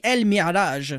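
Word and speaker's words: Al-Mi'raj: creature which is the El Mirage and yes I just pronounced it in Arabic because it is in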